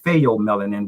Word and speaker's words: pheomelanin: They are of what is called pheomelanin, which is spelled PHEO, pheomelanin, and you will see the difference of the two melanin from EU melanin and pheomelanin.